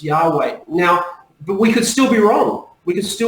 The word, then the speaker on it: Yahweh: research has pointed that the best possible pronunciation that I can find the majority of Hebrew Scholars agree that the pronunciation is Yahweh now but we could